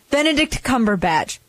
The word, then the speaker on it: Benedict Cumberbatch: that's what I meant I keep getting his name wrong sorry Benedict Cumberbatch so he I'm a I've always been a